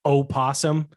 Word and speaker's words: opossum: possum yeah oh and i hate the fact that it's actually opossum like the word possum is spelt oh possum you can get on